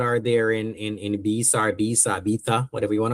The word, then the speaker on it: Ibiza: 2 days in Again, a lot of people have different pronunciation of it. I'm Jamaican, so I'm just going to say Ibiza. I don't know what your pronunciation is. Call it how you want to.